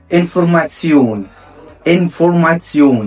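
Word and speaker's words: Information: اخر مقطع في المقاطع اللي هو تي اي او ان وده بيتنطق سيون سيون بشبيل انفورماسيون انفورماسيون يعني المعلومات اوضه لكسيون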